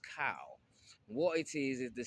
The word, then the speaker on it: chao: pronounce it as child you might want to pronounce the h but the H is silent it's c h AO but it's pronounced cow what it is is